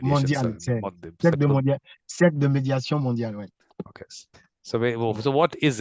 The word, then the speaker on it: Cercle de médiation mondiale: cercle de médiation mondiale, ouais.